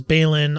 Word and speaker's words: Balin: Balin is with 2 L's, and this is spelled with 1. So I'm just going with Balin.